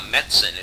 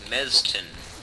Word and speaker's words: Mesentine: It's not Metzen, it's Mezten.